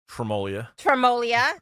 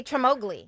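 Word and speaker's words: Tremoglie: of which being Tremolia. I don't know why I want to say Tremogli. Everyone does it. It's the silent G in Italian often gets overlooked in English dialect, unfortunately.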